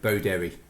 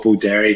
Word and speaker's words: Beauderry: it the same way, Beauderry. Yeah, I go with Beauderry because I'm Irish. You got to put dairy in there, but some people might say Beauderry, but yeah, I go Beauderry.